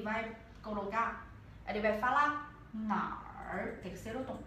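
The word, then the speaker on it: 哪儿: Por isso, ele vai colocar, ele vai falar nar, terceiro tom. É pergunta. Nar, ou nali. Tá? So, esse eu colocar embaixo para a gente olhar mais bem claro. Tá? Nar.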